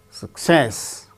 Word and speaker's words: success: be uttered as teacher success with stress on second syllable success recommend third syllable